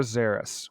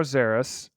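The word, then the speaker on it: Szeras: I I don't know they say illuminor zerus with like a z that's what I that's what I hear so alumino zerus um that's actually how to say his name but they they give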